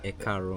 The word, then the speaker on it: Ekaro: Yeah, in Ikale you say Akaro. Akaro. Akaro. Okay, but in Yoruba it says Ekaro. Ekaro.